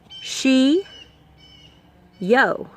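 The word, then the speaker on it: ᏏᏲ: as this here but pronounced differently pronounced she oh she yo she yo shio shio and they're gonna wave at you and say she o for a greeting older speakers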